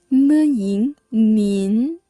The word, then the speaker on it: 您: You should say 您好您好您好，您好，您好，您好，您好，您好， The pinyin of 您 is spelled N-I-N. 您 Take note.